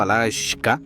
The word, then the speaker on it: Alaska: Deriva de la palabra aleutiana Alakshak, pronunciado Alashka, que se traduce como la